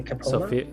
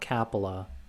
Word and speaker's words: Coppola: Coppola. Coppola, that's how you say it? Coppola, not Capella.